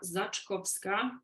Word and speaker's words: Zaczkowska: for the first time my name is Zach kovska I know very difficult surname to pronounce but you can just call me